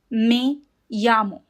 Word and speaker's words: me llamo: Now, the in this word, m e is not me. In Spanish, e always makes the sound a. So, it is me. m e me. And the double l makes the sound ya. Like a y in Spanish. So, you pronounce as me yamo.